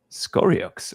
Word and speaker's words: Scoriox: from another web 3 game which is Ovium Skorox or however your name is pronounced.